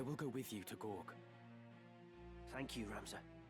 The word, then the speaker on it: Goug: So, as you can see, we need to make our way west towards Gorg. That is indeed how you pronounce it.